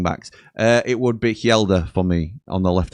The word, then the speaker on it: Helder: I know you've sort of switched the things around, but Sony Glasby likes to call him Hela because he can't say his name properly.